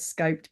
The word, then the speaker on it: SCoPEd: problem around pronunciation um I I refer to it as scoped by the way so